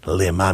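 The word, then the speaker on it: למה: you could always the vowels change everything a couple lines and dots llama is why lema means for what same letters different pronunciation not lama not why did you forsaken me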